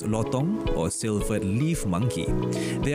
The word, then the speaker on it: lutong: are also known as the Silvery lutong pronounced lotong or silvered Leaf monkey